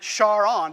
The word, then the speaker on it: Charon: it this way too pronounce it charon because that's how jim pronounced it because he named it after his wife and there they are